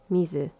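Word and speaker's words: 水: I know how to pronounce them in Japanese. You got moku, hi, tsuchi, kane, mizu.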